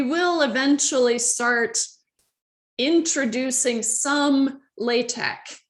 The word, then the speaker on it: LaTeX: program in what's called latex right and it's spelled like latex but uh be cool and call it latex okay uh so don't call it latex call a latex because that's what it's called so um we will